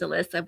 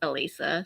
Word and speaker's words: Alissa: I'm Because It's how probably it's spelled, everybody says Alyssa, but it's Alisa.